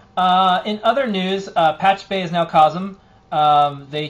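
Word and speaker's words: Pachube: Uh, in other news, uh, Patch Bay is now Kosum.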